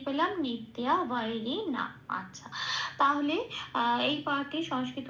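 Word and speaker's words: নিত্যবৈরিণা: Second শব্দের উচ্চারণটা সংস্কৃততে কি পেলাম? নিত্যা বৈরিণা। আচ্ছা, তাহলে এই পাঠে সংস্কৃত উচ্চারণ হচ্ছে জ্ঞানীন নিত্যা বৈরিণা।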